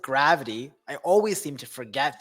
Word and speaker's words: GRVT: should I scratch that in fact you pronounce it gravity I always seem to